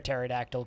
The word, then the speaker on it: pterodactyl: in this chat room you'll never hear a pterodactyl p because the p is silent i live in a